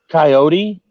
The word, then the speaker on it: coyote: That's one of those words that I think is it's geographical pronunciations because it definitely is. What is? Coyote. Oh, I said coyote. Yeah. Coyote. Yeah. And we say coyote.